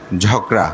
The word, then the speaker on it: ঝগড়া: আমি একদম নিজেই, তা আমি প্রায় সময় ঝাঁকড়া বলতাম, ভান্তে ঝাঁকড়া তো কোনো শব্দ নাই, তা আসলে তো ঠিক, এটা হচ্ছে ঝগড়া না।